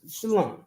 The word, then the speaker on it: shalom: You can say it like that. But it's shalom. You know what I mean? You ain't gotta exaggerate or beat yourself up about it.